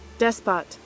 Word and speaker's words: despot: Despot. Despot. For once is the T is actually pronounced.